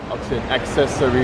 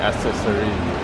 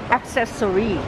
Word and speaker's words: accessory: บ อ อ ก เ สี ย ง accessory น ะ ค รั บ ไ ม่ ใ ช่ accessory อ๋ อ ไ ม่ ใ ช่ accessory ต้ อ ง accessory ค รั บ accessory อี ก ที สิ